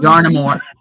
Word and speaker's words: Yarnmore: Yarnmore. No, yarn. Yarnmore. Like paramore.